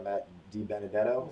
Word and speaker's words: Matt DiBenedetto: We were lucky enough to tune a NASCAR driver's car, Matt DiBenedetto, is how you say it.